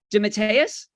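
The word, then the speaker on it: DeMatteis: keith geffen help me up guys i always butchered this jm it's dimitarius dimmitt's pace thank you and kevin mcguire the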